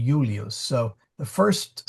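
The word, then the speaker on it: Iulius: that that um uh in English that's why we say Julius because we've chained all those consonant I's to J's Um, but no, it'd be ulios.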